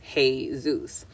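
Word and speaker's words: Jesús: and right okay so when you say Jesus in Spanish it's pronounced hey Zeus so this is a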